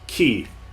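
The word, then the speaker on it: き: This is ki. It is a consonant followed by a vowel and makes up a single syllable.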